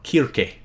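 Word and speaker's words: Circe: this is a reference to Cersei or kir as she's you know her name is supposed to be pronounced the other 33% of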